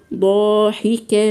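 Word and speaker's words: ضاحكة: يومئذ مسفره مسفره مسفره ضاحكه ضاحكه ضاحكه ضاحي ضاحي هنا عندنا من الحروف المفخمه وهاتي الالف مفخمه لان الالف تتبع ما قبلها يبقى هنقولها ضاحكه ضاحكه ضاحكه ضاحي اكثري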